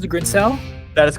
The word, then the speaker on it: Grinsell: Is that how you pronounce it, Grinsell?